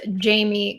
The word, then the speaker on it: Jaime: make sure that you spell jamie correctly it's spelled like jaime a lot of people spell my name wrong and if you do you won't be able to find me so it's j-a-i-m-e wouldn't that be a